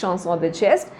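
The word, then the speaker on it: chanson de geste: the shanon the chest it's from French so obviously pronunciation is shanon the chest which means songs of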